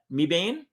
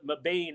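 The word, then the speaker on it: Mebane: do you pronounce that me bean north carolina that's when we first when we first discovered meb and we called it mabane until we got there and then the then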